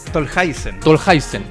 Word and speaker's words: Tolhuizen: ¿Está bien pronunciado tu segundo apellido? Tolhuizen.